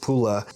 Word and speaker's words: Pula: Next, we're going to go ahead and jump into Pula or Paola. I don't know which is preferred in Croatian, but in English it's pronounced Pula.